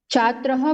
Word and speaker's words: छात्राः: हाँ छात्राः, तो छात्राः बोलिए, उच्चारण में छात्रः आया था।